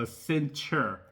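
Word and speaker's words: Accenture: company called as centure I think I said it right asent asent no a it's called a centure yeah a centure is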